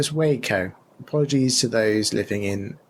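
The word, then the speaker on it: Waco: a couple of things wacko pronounced wo in Texas was the location of a massively bad shootout between police and a cult not sure if you need to mention it but not sure pronouncing it wacko was ideal sorry listeners everyday's school day oh yes say wakeo apologies to those living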